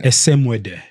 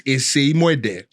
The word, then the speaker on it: Esemuede: Esemuede. Well, that's kind of the anglicized one, and usually what a lot of people. But the real pronunciation in Benin is Esemuede.